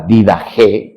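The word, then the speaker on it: Didache: encuentra en internet que se llama la didag. Se escribe didach, así se escribe, pero es did que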